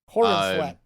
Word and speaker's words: Corenswet: Corenswet. But which is a really funky like last name. Not spelled the same as Cornsweat, but pronounced it.